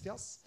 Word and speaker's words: FIAS: Plattformen jeg var med å lage i FINN kalte vi fjas. Fias, men uttales fjas.